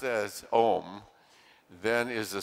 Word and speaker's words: Om: we forgot to say the lord's prayer om pronounced as om then is a sound that invokes a relatively high degree of calibration 740.